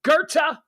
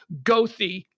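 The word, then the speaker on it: Goethe: pronounce his name properly it's Gerta okay it's not gothy it's not g-o-e-t-h-e oh I really like Johan gouthi no you don't no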